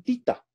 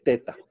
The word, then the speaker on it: theta: teta es así listo algunos le dicen tita pero se lee teta ésta por si acaso